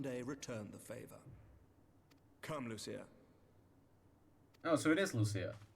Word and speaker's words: Lucia: I might one day return the favor come Lucia oh so it is Lucia okay I thought it was some weird pronunciation like Lucia or something but no it is Lucia everyone